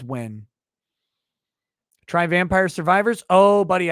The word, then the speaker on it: Nguyen: It's pronounced when. Nguyen, it's when.